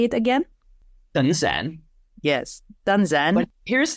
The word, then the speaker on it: Tân Giang: But when it comes to Tân Giang, I've chosen to embrace the northern pronunciation, even though I live in the south. And so when I introduce myself to Vietnamese people and I say, Tên tôi là Tân Giang, my name is Tân Giang, if they heard me correctly, they'll say back to me, Tân Giang, and I'll say, no, Tân Giang.